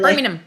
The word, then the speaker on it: Birmingham: I can't say it properly. Birmingham. There you go. I like to pronounce all of the vowels.